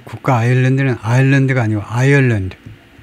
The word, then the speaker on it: Ireland: 이 국가 아일랜드는 아일랜드가 아니고 아이얼랜드. 발음기로 나타내면요. 이렇게 되는데 앞에다 액센트를 두고 이게 더 들어가요. 이 섬은 아일랜드고요. 아일랜드고 이 국가 이름은 아이얼랜드.